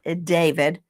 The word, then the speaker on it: D4VD: It looks like D4VD. It's David.